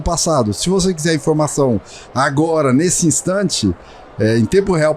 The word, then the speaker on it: Ahgora: Porque Agora, que é a pronúncia correta com H, é uma ambiguidade agora no conceito de Ágora.